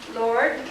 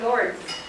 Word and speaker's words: Lourdes: These is either pronounced Lord or Lourdes.